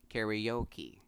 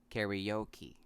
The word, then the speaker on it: karaoke: In American English, this word is pronounced karaoke. Again, this is pronounced karaoke.